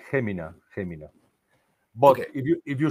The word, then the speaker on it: Jumilla: Well, we pronounce it the same way that you pronounce the H or J, Jumilla, Jumilla.